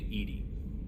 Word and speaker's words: EDI: Why are you named Edy? Edy is the phonetic pronunciation of EDI.